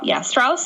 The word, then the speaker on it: Strauss: Yeah, no, I liked it, because when I was reading through the picture, because I was really taking in that moment there, Strauss is how you say the name.